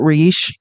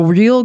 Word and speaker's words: Reich: know we love Robert someone told me it's Robert re not Robert Reich I don't know I